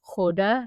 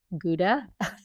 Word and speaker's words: Gouda: It's Hoda, not Gouda.